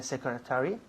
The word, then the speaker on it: secretary: is the secretary Secretary. Primera sílaba.